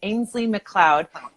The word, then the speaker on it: Ainslie McLeod: So it's spelled AINSLIE MCLEOD, Ainsley McLeod.